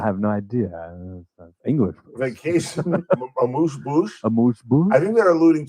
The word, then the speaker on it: amuse-bouche: It's a vacation amuse-bouche. Say what? Say what? I have no idea. English. Vacation amuse-bouche?